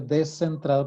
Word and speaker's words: descentrado: está descentrado no repito lo pronuncio descentrado porque se escribe con esc O sea que no